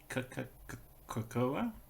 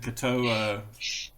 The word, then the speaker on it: Katoa: Karakoa? Something like that. Oh, I can't remember. The Katoa. Katoa, there we go. I think I was getting Aarakocra and Katoa conflated, but anyway. It's actually pronounced Katoa. Katoa.